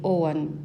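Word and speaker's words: Ogham: Eu estudo o Ogam, ou acho que também há quem pronuncie Oan, que é basicamente temos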